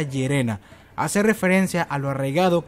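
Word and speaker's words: イェレナ: Me parece que el hecho de esta chica compartir la similitud en el nombre, ya que en el japonés se pronuncia Yerena, hace referencia a lo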